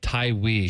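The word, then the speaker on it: Tawee: I think his name's pronounced Tywee.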